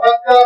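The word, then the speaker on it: بكة: तो फरमाएंगे अल्लाह का असली घर काबतुल्लाह जो है ना वो तो बक्का में है। तो अब ये बक्का को उन्होंने चेंज कर दिया, थोड़ा सा तलफ़्फ़ुज़ प्रोनाउंसिएशन बिगाड़ा, क्या बुका कर दिया।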